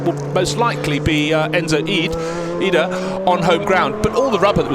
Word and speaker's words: Ide: I said, is it Ide or Ede? He went, neither, it's Ida. Ida.